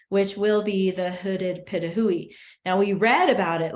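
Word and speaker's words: pitohui: We have the hooded pitahui, that's how you say it, pitahui, the African ostrich, and the southern cassowary.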